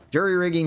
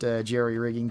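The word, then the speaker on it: jury-rigging: Jury rigging should be pronounced jerryrigging technically with more of an e rather than the u, but I just look at it and see juror.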